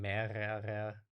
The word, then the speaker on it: mehrere: So the last R is actually pretty much silent, um, but then it's mehrere, right?